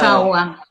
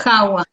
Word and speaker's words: Jaua: Jawa, Hawái. Jawa, sí. Bueno, es complicado porque es raro, pero en realidad se pronuncia tal cual se escribe.